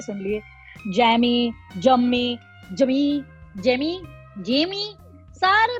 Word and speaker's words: Jamie: हालांकि the right pronunciation is जेमी, बट भाजीपाला हो गया मेरे नाम का.